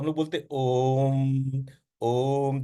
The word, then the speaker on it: ओम: जैसा आवाज होता है इसलिए जब हम बोलते हैं अ उ ओम को उच्चारण करते हैं तो ओ तो क्या बोलते ओ ओ तो ओम बोलते वो ओ शब्द नहीं है वो अ उ शब्द है लेकिन अ और उ मिलके ओ बन जाता है तो हमलोग